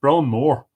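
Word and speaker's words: brón mór: You say Brone. Well, Brone more. Yeah, great sorrow.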